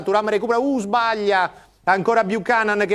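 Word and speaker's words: Buchanan: dentro non ho ancora capito come si pronuncia bucanan buan bucanan è canadese Sì sì sì bucanan quindi non buon come è le Rimembranze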